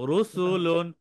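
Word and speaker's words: رَسُولٌ: হবে মোটা হবে যেমন রসুলুন রসুলুন রু মোটা রসুল রসুলুন র এর উপর পেশ আছে তাই র মোটা উচ্চারণে হবে রসুলুন বলি রসুল বলেন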